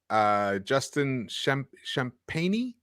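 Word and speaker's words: Champagnie: Justin Champagne, is that how you say it?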